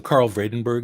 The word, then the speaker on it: Karel Vredenburg: to audience what do you do yeah so Carl vredenburg is how I pronounce that collection of letters uh for those